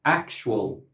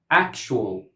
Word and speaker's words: actual: For example, actual, actual, actual. This word has three syllables in Longman and Cambridge Dictionary and two syllables in Oxford Dictionary.